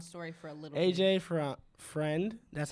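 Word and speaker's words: AJ Freund: AJ Friend. That's how it's pronounced.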